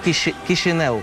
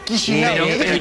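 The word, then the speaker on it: Chișinău: Bueno, la capital se llama Chisinau. Chisinau. Y el diario es el Jornal de Chisinau.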